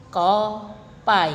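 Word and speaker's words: kopi: depannya yaitu I atau contoh the coffee Hai copy diakhiri huruf vokal I maka pengucapannya jadi Koh pai Hai Selain itu ada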